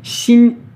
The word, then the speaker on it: xin: Xin, x. Pareil, c'est le même que tout à l'heure. I, comme en français, le n qu'on va prononcer à moitié. On va pas dire ne, on s'arrête à la moitié.